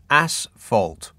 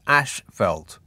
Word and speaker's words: asphalt: David emails, road tarmac is asphalt, pronounced asphalt, not ashfelt.